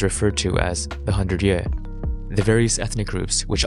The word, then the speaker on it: yuè: the word for south in Chinese, and Viet, pronounced Ye in Mandarin, in reference to who the Chinese referred to as the 100 Ye, the various ethnic groups which occupied what is